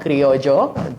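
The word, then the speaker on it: criollo: my adobo is called creojo with a double L and you pronounce it with a Y um and it's just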